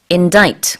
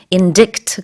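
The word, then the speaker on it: indict: has 그러면 기소 되다 n 자이트 그러면 기소 하다 라는 뜻인데 씨가 묵음 이에요 그래서 인지 큐트 가 아니고요 뭐 enter 하고 발음의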